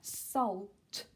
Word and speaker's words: salt: one was the salt be careful on pronunciation pronunciation sorry there is no silent letter okay you do need to say the L salt okay great the next